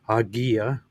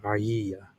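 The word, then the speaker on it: Hagia: It's like in classical Greek, it is agia. Usually you're correct. Whereas in modern Greek, it's aia.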